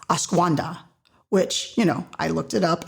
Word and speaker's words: ashwagandha: has, I had to practice this word, it's ashwagandha, which, I looked it up and when you look up the little pronunciation, those little lips tell you. So I repeated it like 30 times, ashwagandha.